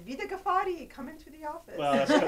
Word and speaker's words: Vida Ghaffari: Vida Ghaffari.